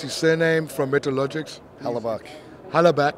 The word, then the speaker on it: Hellebuyck: Hellebuyck. Hellebuyck. The Hellebuyck. Y is silent. Yeah. It's just there to trip you up a little bit.